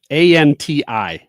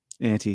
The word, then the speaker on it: auntie: Okay, pronounce this one. We're running out of time, but a n ti. Antie. Auntie. Yeah. not anti.